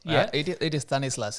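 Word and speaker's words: Thanislaus: was t-h-a-n-i-s-l-a-u-s and i thought it was like tennis laws yeah it is stanislaus it's more like a typical tamil name yep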